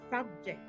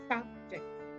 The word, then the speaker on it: subject: For example, the word subject. I stressed on the first one by mentioning subject. And when I stress on the second, I will say subject. Now, the first word is a noun and the second is a verb.